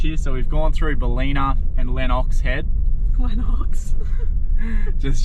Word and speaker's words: Ballina: So we've gone through Ballina and Lennox Head. Lennox. Just joking. Everyone that knows the area would have been like, it's Ballina. They would have been on the couch. It's Ballina.